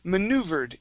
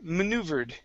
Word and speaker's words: maneuvered: And the last one here, maneuvered. Give me a good V sound here. Maneuvered.